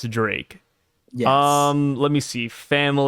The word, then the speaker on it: Drake: bit but red flag X Drake pronounced as d as Drake yes um let me